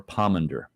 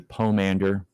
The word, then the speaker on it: pomander: go all right so it could be pomander or palmander okay I think the correct pronunciation would be pomander I'm gonna go with